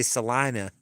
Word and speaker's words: Salina: they pronounce everything wrong they have a town called Selenas but of course they they say or Selena but they say Salina and then they they've